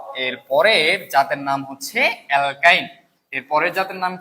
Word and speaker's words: অ্যালকাইন: এর পরের জাতের নাম অ্যালকাইন তাহলে তাহলে আমরা গত ক্লাসে করেছিলাম যে অ্যালকাইন অ্যালকাইনের শর্ত কি হবে? অ্যালকাইনের শর্ত হবে কার্বন কার্বন একটাতে মিনিমাম তিনটা বন্ধন থাকবে এবং কি হবে বলতো? আইন উচ্চারণ হবে।